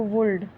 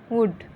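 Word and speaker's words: would: इसको कुल्ड नहीं पढ़ते, इसको शुल्ड नहीं, इसको वुल्ड नहीं, कुड, शुड, वुड, ठीक है, ऐसे पढ़ा जाता है।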